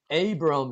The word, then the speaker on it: Abram: 물론 여기서 Abram 이렇게 해야 되겠죠.